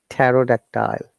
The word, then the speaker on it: pterodactyl: Okay, and I'm sure you know this word, pterodactyl. That starts with PT as well in the Jurassic movie, yeah?